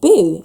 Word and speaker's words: Bo: And Finn was Finn, and Henrik's dad's called Boo. He's Swedish, it's spelled B-O.